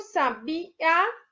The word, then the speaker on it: sabiá: então é uma proparoxítona e o sabiá a última sílaba é o mais forte é o a é uma oxítona agora por ou vai